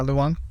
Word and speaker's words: Luong: pronounced your last name correctly, right? Yeah, Luong.